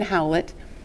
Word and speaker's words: Howlett: Pronounce that again. Howlett, Howlett.